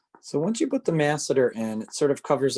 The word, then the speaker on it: masseter: open and close so this is called the masseter m a s e t e r so once you put the masseter in it sort of covers up that angle